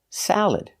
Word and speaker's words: salad: Again, the second syllable is not stressed, so you have three choices. You can use the schwa, salad, sound, salad. You can use the sound, like eggs, salad, salad. Or the I sound, like milk, and this, salad, salad. Just make sure you put the stress on the first syllable.